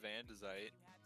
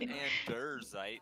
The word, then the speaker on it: andesite: It's a bunch of andesite. Andesite? Yeah, andesite. That's how I say it. Diorite, andesite, granite. Andesite. Let me get some of that andesite. Not andersite, andesite.